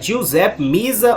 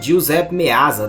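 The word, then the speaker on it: Giuseppe Meazza: da nossa lista é Giuseppe misa ou giusep meazza depende aí do lugar que tem a pronúncia diferente o estádio Onde joga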